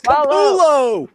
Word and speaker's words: Capullo: Capullo, bro. It's Capullo.